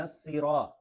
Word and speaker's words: الصراط: کے قریب۔ اہدنا الصراط، یہاں صاد ہے، خیال رکھنا ہے، سین کا الگ تلفظ ہے، صاد کا الگ تلفظ ہے، تو اس کو سین نہیں پڑھنا، صاد پڑھنا ہے۔ اہدنا الصراط المستقیم، تو